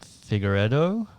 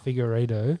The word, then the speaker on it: Figueiredo: And I think does Figueroa, how do you say it? De Figueiredo? Figueiredo. You're good there.